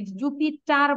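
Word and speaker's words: Jupiter: Mercury, venous, আর্থ, Mars, জুপিটার, এই জুপিটার বলবো না, আর এর উচ্চারণ করব না।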